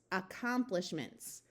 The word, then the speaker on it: accomplishments: to remember is that longer English words that start with the letter A usually have the awwa where it takes on a muffled short u sound so rather than being a clear a sound this is much more likely to be more like U acomplishments accomplishments let's look